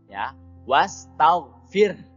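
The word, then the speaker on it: واستغفر: roknya roti pizza kemudian hadiah gir yang harusnya dibaca Who tapi karena disukunkan hanya menjadi sukun tapi harus tetap terbaca wastaghfir kemudian yang selanjutnya in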